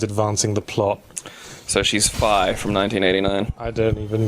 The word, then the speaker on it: Fi: Yeah, I always pronounced that as Fee because I Phi.